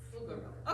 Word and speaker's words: Pflugerville: Pflugerville.